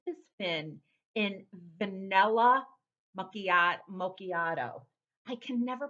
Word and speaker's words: macchiato: but anyway this has been in vanilla macchiat macchiato i can never pronounce like certain words correctly so it's vanilla macchiato now i am not going to lie since